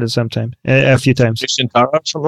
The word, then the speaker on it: Nusantara: Nusantara, something like that? Yeah, go ahead. Nusantara.